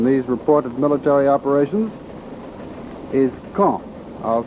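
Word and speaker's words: Caen: Berlin says that the first center of gravity in these reported military operations is Kong. I'll spell that C A E N.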